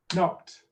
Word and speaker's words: knocked: Waited, 2 syllables, knocked, 1 syllable.